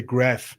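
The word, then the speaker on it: Grafenwöhr: big American military base, Grafware. The Americans say Graf.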